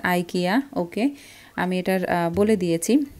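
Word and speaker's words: IKEA: সাইফ রহমান উনিও কমেন্টে লিখেছে যে ইকিয়া না আপু, ইটস আইকিয়া, ওকে আমি এটার বলে দিয়েছি।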